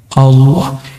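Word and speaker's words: الله: Dia melihat ada orang buang kaligrafi yang di situ tulisannya alif lam lam ha. Bacanya apa? Allah.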